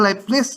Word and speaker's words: Leibniz: Leibniz, bacanya Leibniz katanya.